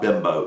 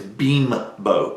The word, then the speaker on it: Bimbo: me pronounce that correctly it's not bimbo it's beam boat as in b-e-e-b-e-e-m-o beam boat is how it's pronounced the routes are